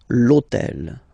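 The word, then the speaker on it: hôtel: took on purpose this otel okay because it starts with Ash but remember that in French we don't pronounce Ash okay so basically the first sound of the word is the vowel O Okay so for the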